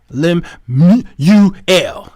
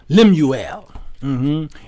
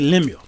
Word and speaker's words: Lemuel: it you understand uh the king's name is pronounced lem ul yes lemuel i like to say lemieux okay now uh it